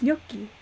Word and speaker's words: gnocchi: The voice actor didn't know how to pronounce swear that. I'll never understand you, Renans. It's gnocchi.